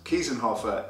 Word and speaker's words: Kiesenhofer: is a different factor, but to how to pronounce Kiesenhofer is like that.